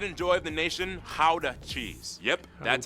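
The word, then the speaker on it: Gouda: and the pride and joy of the nation howder cheese yep that's how you pronounce it guys oh and keep in mind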